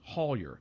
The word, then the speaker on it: Hollier: It would be pronounced Hollier.